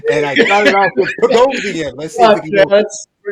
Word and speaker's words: Boghossian: And our guest this week is Peter Rhymes with explosion. Boghossian explosion. Ooh, the Boghossian explosion.